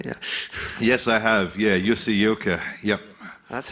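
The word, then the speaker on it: Jussi Jylkkä: Yeah, Jussi Ilkka. Yep. That's how you pronounce it.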